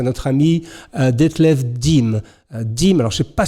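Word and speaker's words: Diem: Mais nous avons découvert la semaine dernière, grâce à notre ami Detlef Dim, alors je ne sais pas si je le prononce bien, qui est un maître tailleur de Munich en Allemagne.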